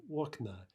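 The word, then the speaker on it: окна: Aknoa is window, and hopefully you remember that stress shift, right? Okna. Now that, although we've given that form here, that's pretty predictable, right? A two-syllable neuter will almost always shift its stress to the opposite syllable in the nominative plural.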